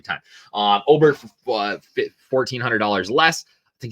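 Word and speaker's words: Åberg: like, but we're getting Aberg for $1,400 less. Oberg, God, I say it wrong every time. Oberg for $1,400 less.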